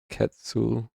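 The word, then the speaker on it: quetzal: Safe to say, the respplendant quitzel makes me feel my age. By the way, it's pronounced ketul.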